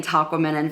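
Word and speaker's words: Tahquamenon: they keep saying it's it rhymes with phenomenon and I'm like how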